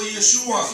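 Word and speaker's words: ישוע: Y en hebreo, diga conmigo, Yeshua. Yeshua. Yeshua. Así que usted puede orar en inglés, puede orar en español y puede orar en hebreo también. En de Shem, Shem quiere decir nombre, de Yeshua HaMashiach, el Mesías de Israel.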